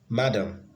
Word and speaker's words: madam: on the second syllable madam the stress is on the first syllable madam see frequent frequent